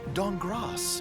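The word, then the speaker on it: Dankgrass: C Team, Amy Falcone's Walnut Dongras. The K is silent.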